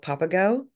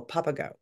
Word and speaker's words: Papago: And so what was amazing was this travel app called Papago, Okay.